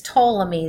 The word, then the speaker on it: Ptolemy: around a little bit the way you pronounce this scientist name is Ptolemy the P is silent okay so Ptolemy was